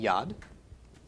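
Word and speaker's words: יד: a dalit and so we pronounced the Y of V owed a short a of the comments and then the D of the dollar making yadda and this week I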